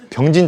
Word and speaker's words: 병진: 발음 잘해야 돼. 수륙 병신 작전이 아니라 병진 작전이야.